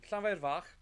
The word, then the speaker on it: Llanfairfach: It's Llanfairfach. Right. Is how you pronounce it.